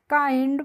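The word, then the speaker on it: kind: हम क्या पढ़ते हैं इसको हम किंड नहीं पढ़ते हैं क्या पढ़ेंगे काइंड पढ़ेंगे और ए एनई डबल एस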